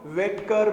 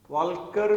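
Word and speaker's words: Walker: This is the Ostwald वेकर method. वाल्कर भी बोल देते हैं वैसे, this is L is silent है, वेकर method, Ostwald वेकर method.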